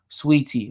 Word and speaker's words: Saweetie: bbl surgery her name her name is pronounced sweetie all right sweetie okay my bad um